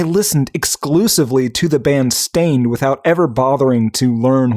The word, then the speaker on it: Staind: You don't pronounce the E is my point. It's not Stained, it's Stained.